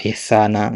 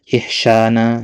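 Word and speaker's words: إحساناً: Misalkan dikata ihsana ya, asal antum jangan baca ya ihsyana.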